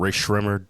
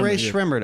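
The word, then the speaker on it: Rae Sremmurd: it's it's a group Rae sremmer oh Ray schremmurd oh okay yeah yeah those guys exactly yeah I pronounced it wrong I was thinking of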